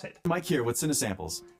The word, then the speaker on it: Cinesamples: He's going to tell me how to pronounce it. Mike here with Cinesamples. Cinesamples.